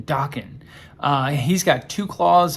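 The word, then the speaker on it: Daken: this is wolverine's son i think you say his name dawkin d-a-k-e-n dawkin uh he's got two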